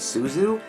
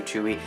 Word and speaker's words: Tzuyu: For the longest time, I thought her name was Tzuyu, because that's not like how it's pronounced, but apparently it's Tzuyu.